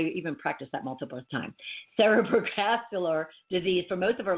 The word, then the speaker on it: cerebrovascular: It's a cerebrovascular.